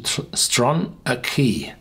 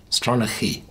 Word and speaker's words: Stronachie: Pronunciation Stronachie. Stronachie.